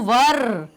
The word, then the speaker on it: were: हिंदी वाला जो वर होता है ना, वैसा प्रोनाउंस करिए। बहुत सारे लोग वर को वेयर बोलते हैं।